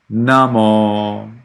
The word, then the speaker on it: namo: okay that's good um so actually you have it all short and that's not right you need to distinguish short and long why because you stay there a little longer time Namo can you say that